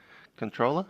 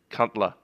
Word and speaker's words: CNTLR: clear direct to CNTLR, we're going to be pronouncing that as controller and not as the other option, which would be rude. We are an Australian pilot, so Cuntler.